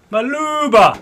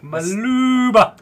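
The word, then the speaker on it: Maluuba: his name is actually Mal Mal Mal Mal Mala okay spell that m a l u u b a maluba that's not a name used as maluba used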